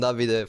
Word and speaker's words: Davide: My name is Davide. Davide. David, sorry. It's fine. You can call I me said David. that to him. Yes, I said I pronounced it David.